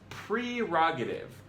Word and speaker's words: prerogative: It's prerogative, like precognition.